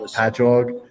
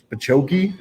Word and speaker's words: Patchogue: the cities that we have, it would be like Patchogue, and they'll be like Pachoki, and I'm like, no, it's just ingrained into my brain that I know how to say them.